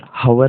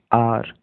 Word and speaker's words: hour: After some हावर, हावर, देखो यहाँ पर HOUR, हावर नहीं पढ़ते इसको, आर, आर, ठीक है, आर।